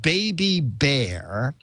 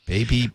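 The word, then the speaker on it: Baby B'Air: It's called Baby Bear. Baby Bear. But it's spelled Baby B''Air.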